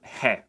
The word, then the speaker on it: ge: The next letter is called G. Yeah, I know it's weird, but we've got what we've got.